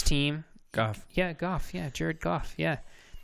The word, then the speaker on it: Jared Goff: God yeah golf yeah Jared Goff yeah his first name starts with a J and you pronounced it like a J and then his second